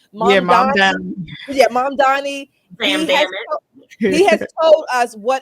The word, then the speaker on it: Mamdani: And how do you pronounce his name? Mamdani. Yeah, Mamdani.